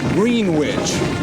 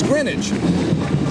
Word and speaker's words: Greenwich: Avenger band you know so many people pronounce their Hometown Greenwich now that really strikes a sour node in the hearts of all these kids it's Greenwich we did it right yeah we better get